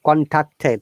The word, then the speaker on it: contacted: It's sound is T, not D.